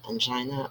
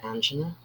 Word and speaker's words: angina: term unchina pectorius okay you can pronounce it as angina or angina um this uh